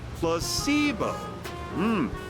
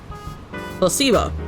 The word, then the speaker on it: placebo: to our vocabulary today repeat after me placeo the stress is on the middle syllable placeo very good you're figing